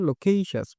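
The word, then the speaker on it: loquacious: লোকুয়াশাস এনি হবে লোকেইশাস, এরকম না, লোকেইশাস। এর উচ্চারণটা এমন হবে লোকেইশাস।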